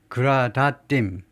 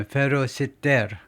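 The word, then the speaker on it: Gradatim Ferociter: 라틴어는 읽기가 쉽습니다. 그냥 읽으시면 돼요. 그냥 스펠링대로. Gradatim, 우리 한국어처럼요. 이 어는 항상 압니다. Gradatim, 그다음에 Ferociter 그대로 읽으면 돼요.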